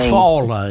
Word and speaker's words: Eufaula: Eufaula is the way that's pronounced.